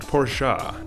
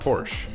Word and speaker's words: Porsche: carreras and cay also according To A genuine German It's pronounced porssha Not Porsche but Feel Free to